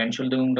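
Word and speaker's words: Entschuldigung: এটা কম ইউজ হয়, তবে এনশুলদিগুংটা হলো ইন জেনারেল বেশি ইউজ করে মানুষ। এনশুলদিগুং উচ্চারণ হলো এন্ড শুলদিগুং, 3টা সিলেবালে উচ্চারণ হবে শব্দটা।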